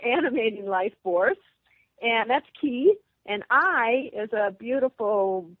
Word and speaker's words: Ki: It's the Japanese pronunciation of chi, like Tai Chi.